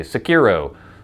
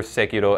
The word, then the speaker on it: Sekiro: Sekiro. And every syllable is basically emphasized the same amount.